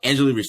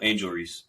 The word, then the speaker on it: Angel Reese: for like last week and a half of Angela Reese that's how you pronounce her name right uh angel angel Reese Angel Reese I'm sorry Angel Reese we actually